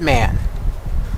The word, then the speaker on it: MAN: it's m m look I've even heard it pronounced on television okay they call it man so I'm going to call it man just like I try